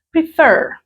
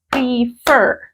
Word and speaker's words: prefer: en la última sílaba la entonación está aquí en F prefer Entonces cuando dice